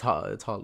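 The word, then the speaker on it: Halle: honestly don't know why, but we're talking about the casting of Little Mermaid with Haley Bailey. Yeah, Holly Bailey. Is it Holly? It's Holly. Yeah, I it's pronounced like Holly Berry.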